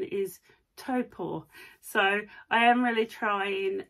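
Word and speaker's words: Taupō: Topo um and I will say I've always pronounced it as taupo Lake taupo but I did ask um out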